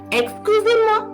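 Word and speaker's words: excusez: excuse me it is exclusive remember here if you look at the spelling you can get a bit confused you are not going to pronounce the last z here when you will get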